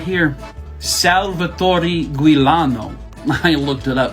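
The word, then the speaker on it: Salvatore Giuliano: so who did this this fella right here Salvatore guilano I looked it up how to say his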